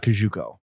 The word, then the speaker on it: Kosciuszko: because I drive on the Kosciuszko Bridge. I literally It's Googled how to pronounce 1,000% pronounced Kajuko.